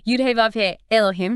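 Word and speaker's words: יהוה אלהים: Pronounced. Yud-Heh-Vav-Heh Elohim.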